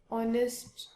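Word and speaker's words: honest: यहां पर भी हमारा एच साइलेंट है और हम इसको कैसे प्रोनाउंस कर रहे हैं, ओ नेस्ट।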